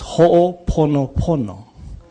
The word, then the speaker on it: Ho'oponopono: And it's Ho'oponopono. It is not Ho'oponopono. It's Ponopono. Yeah? It's Ho'oponopono. Not Ponopono.